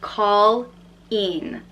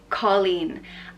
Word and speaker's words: Colleen: a cool name Nessa the next name is Colleen and this pronounced call in Colleen and Colleen and Irish means girl and the